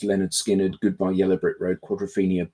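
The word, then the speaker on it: Lynyrd Skynyrd: Also, pronounced Leonard Skinnard, Goodbye, Yellow Brick Road, Quadrofinia, Berlin, Houses of the Holy Tube, but the Bells all came out this year.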